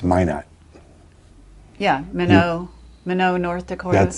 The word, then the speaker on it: Minot: It's Minot. Yeah, Minot, North Dakota. That's the French pronunciation.